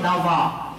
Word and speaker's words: لظى: C'est pas Laz, ici il y a beaucoup de malgaches qui s'appellent Laz. Attention, vous dites, Imam a dit Laz, tu es l'enfer. Hein? Non, c'est Lava. Il faut bien prononcer l'arabe.